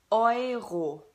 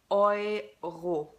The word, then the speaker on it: Euro: The German currency or the European currency is pronounced Euro. Euro. Okay? The EU in German is pronounced O-I. Euro.